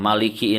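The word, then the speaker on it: مالك: Nah, Maliki ini ya kalau dalam surah An-Nas pendek ya, Malikin Nas. Tapi dalam surah Al-Fatihah panjang. Bisa dilihat tulisannya Maliki Yaumiddin. Ya, maknya panjang, 2 harokat.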